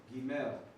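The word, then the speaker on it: גימל: And this has the G sound.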